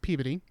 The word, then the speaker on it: Peabody: 15th 1902 in Peabody which is how you spell it even though I mean how you say it even though it's spelt Peabody its Peabody and she was known to